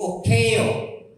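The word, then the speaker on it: οἰκέω: Inaingon sa Griego, okeo. Okeo, no? Pag-pronounce sa Greek, kinanglan ma-pronounce nimo ang E-O, no?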